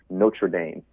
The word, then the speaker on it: Notre Dame: enunciation of the second word so it'd be Notre Dame Notre Dame okay so when you talk about